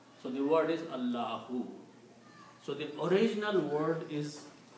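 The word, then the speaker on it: الله: This this alif is not pronounced anymore. So the word is Allah who. So the original word is Allah. When we stop we say Allah.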